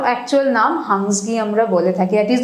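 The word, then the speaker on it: Hunsgi: এটার আরেকটা নাম হচ্ছে হান্নাসাগি, যেটাকে মানে অনেক সময় এই নামেও বলা হয়, বাট এটার অ্যাকচুয়াল উচ্চারণ, অ্যাকচুয়াল নাম হাংসগি আমরা বলে থাকি।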